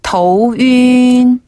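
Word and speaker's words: 头晕: 어지럽다고 하잖아요 그래서 머리 두 자를 써 가지고 더우 윈 더우 윈 더우 윈 더윈 머리가 터우 그래요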